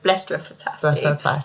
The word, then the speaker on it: blepharoplasty: What is a common reason your patients come see you for a blepharoplasty? Blepharoplasty. Did I say it right? You did.